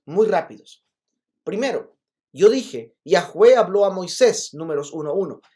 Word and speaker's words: Yahweh: Yahweh. Y nosotros le pusimos vocales que nos ayuden a pronunciarlo. Pero otros le pusieron otras vocales y tenemos Jehová. Pero Yahweh es más cercano al tetragramatón, que es tetragramatón 4